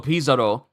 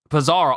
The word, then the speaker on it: Pizarro: entire Pirate Island and this is avalo Pizarro Pizarro avalo Pizarro I've been pronouncing it wrong all this time avalo Pizano who's